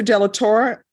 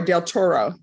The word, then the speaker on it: del Toro: row Alberto Trevino Victor De la Torre I'm sorry del Toro I was adding more syllables to your name Jayden green Jayden green